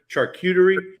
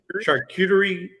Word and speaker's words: charcuterie: to church how do you say that word charcuterie charcuterie yeah turkey the food that goes on the